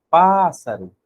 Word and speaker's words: pássaro: Pássaro! Ó, o pá saiu mais forte e mais demorado.